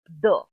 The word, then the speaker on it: the: हैं कि मैम इसको कुछ लोग द बोलते हैं, कुछ दी बोलते हैं, तो इसका करेक्ट प्रोनाउंसिएशन क्या है। तो मित्रों मैं बताऊं कि जब ये लेटर द किसी कॉन्सोनेंट साउंड, किसी भी कॉन्सोनेंट साउंड वाले शब्द से पहले अगर उपयोग में आता है तो हम इसको